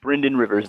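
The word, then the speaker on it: Brynden Rivers: know uh so blood Raven yeah it's it's Bryan Rivers there we go so I looked it up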